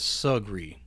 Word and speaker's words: Sugri: be invited anywhere nice, they pronounced the river as Sugri, rhyming the first half with jug and barely giving breath to the end of the word like it hardly mattered.